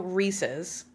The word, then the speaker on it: Reese's: Also, Reese's cuz it it rhymes with pieces.